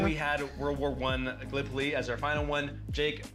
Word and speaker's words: Gallipoli: the game right because being from Iowa, I said Gallipoli, and it's pronounced Gallipoli.